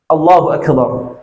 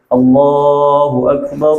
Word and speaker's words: Allahu Akbar: Pendek, jangan Allahu Akbar. Allahu Akbar artinya Allah Maha Besar. Kalau Akbar panjang artinya beduk. Makanya jangan sampai bacanya Allahu Akbar, Allahu Akbar. Nah ini nggak boleh ya, pendek. Allahu Akbar, Allahu Akbar, Allahu Akbar. Atau 2 kali juga boleh. Allahu Akbar, Allahu Akbar. Jangan panjang ya.